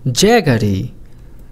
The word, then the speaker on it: jaggery: গুড় ইংরেজি কি গুড় ইংরেজি হল জ্যাগারি জ্যাগারি মানে হলো গুড় জ্যাগারি শব্দটির ইংরেজি বানান এবং উচ্চারণ আপনি এভাবে ভেঙে ভেঙেও মনে রাখতে পারেন